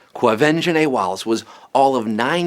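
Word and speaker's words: Quvenzhané: it's going to some of you right now quo venj na Wallis yes avenging a that's how you say her name avenge and a Wallis was all of nine years old when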